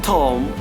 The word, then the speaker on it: thumb: We have to mute the word, mute the alphabet, mute the letter B silent. So we can pronounce like this: come, bomb, thumb, climb, tomb, crumb and lamb. So here B is silent.